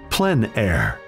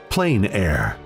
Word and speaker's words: plein air: open air or outdoors the French pronounce it plenn air others say plein air no matter how you